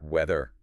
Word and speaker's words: weather: If you are touching your lip, you're making a V or F sound. Weather.